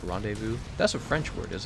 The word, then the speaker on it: rendezvous: me and you rendezvous wouldn't word the way it's spelled Brenda's vows renders vows pronounced rendezvous that's a French word is it not I